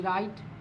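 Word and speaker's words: write: आपके सामने लिखा डब्लू आर आई टी ई राइट है ना उसी तरीका से मैंने एक और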